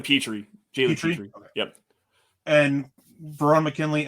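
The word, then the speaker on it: Pitre: Lewis Sine, Jalen Pitter. I'm not sure how to say the last name. It's Jalen Petrie.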